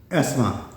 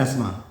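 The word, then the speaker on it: asthma: बीमारियां शामिल हैं, इंक्लूडिंग एस्मा, इसमें TH साइलेंट है, इसमें जो TH वो क्या होता है, साइलेंट TH नहीं पढ़ना। एस्मा क्या पढ़ेंगे, एस्मा दमा,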